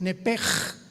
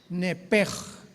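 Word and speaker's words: נפש: Nepesh se pronuncia en el hebreo como J-L-S-H, es nepej, nepej. Por eso el Espíritu Santo se pronuncia Ruach, se escribe Ruach, C-H, Ruach el Kadosh. Entonces la S-H se pronuncia como J en el hebreo.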